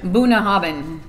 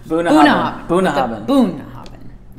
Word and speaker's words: Bunnahabhain: Bunnahabhain. With emphasis on the boon, what this guy. What did I say? Bunnahabhain.